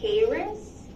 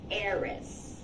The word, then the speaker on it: heiress: Did you say heiress? It's heiress. Heiress.